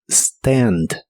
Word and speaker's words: stand: de inglés es Stand si quieres ser muy Exacto en cuanto a la pronunciación pronuncia la a con el sonido que es la combinación de e y a Stand Stand en el presente